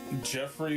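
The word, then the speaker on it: Geoffrey: Jeffrey, but it's spelled Geoffr. Oh my god. Geoff. RY. Jeffrey.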